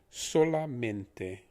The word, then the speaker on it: solamente: for only is solamente now if you're pronouncing this with english pronunciation the so would be so like so as in you're sewing something or so what la would be similar to the musical scale doremi fasola so we have sola men is similar to